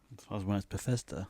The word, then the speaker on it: Bethesda: Bethesda.